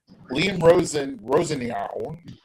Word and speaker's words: Liam Rosenior: Liam Rosenior, that's how you pronounce his name.